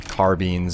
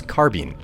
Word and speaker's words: carbine: Made a point that it's supposed to be said carbine. And I actually went and looked at several different dictionaries to find out just what the pronunciation is supposed to be, and much to my surprise, this guy was correct. It's actually not it's not carbine, it's carbine.